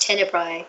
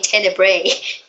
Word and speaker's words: Tenebrae: that don't even know it was pronounced tender Bry they keep saying Tenebrae I mean I don't